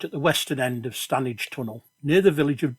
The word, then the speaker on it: Standedge: the western end of stanage tunnel near the village of diggle and yes the locals pronounce it stanage well here i